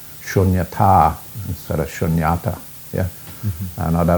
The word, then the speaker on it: shunyata: And if you understand the way, just by understanding the long sound, like shunyata, it's got a long A on the end, and that's where shunyata, dharmata, not dhamata.